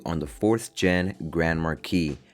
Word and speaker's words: Marquis: Today I'll be giving you guys my review on the 4th gen Grand Marquis. Not Grand Marquis, the S is silent and it's for slow.